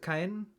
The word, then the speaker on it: Caen: Ken. Okay, it's Ken. Good. It's actually pretty much how I would pronounce it in in German.